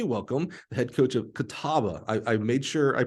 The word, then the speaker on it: Catawba: Help me welcome the head coach of Catawba. I made sure I pronounced it right.